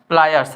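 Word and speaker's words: pliers: इसको हम लोग बोलते हैं अपनी भाषा में पिलास बोलते हैं। क्या बोलते हैं? पिलास बोलते हैं। लेकिन इसका नाम क्या है? प्लायर्स है।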